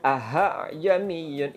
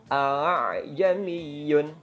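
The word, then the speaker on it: ءَأَعْجَمِيٌّ: janiye itu salah aha jami'un beda dengan yang Betulnya alay Jani Yun gitu ya Nah jadi harus dibedakan antara meringankan Hamzah yang kedua jadi diringankan aja bacanya tidak perlu diberatkan kalau diberatkan malah akan menimbulkan huruf ha ha Hai Jaan Iyun itu masih keliru atau salah Dan juga bukan dipanjangkan ada juga yang dipanjangkan a-j miyun a djam Iyun a6i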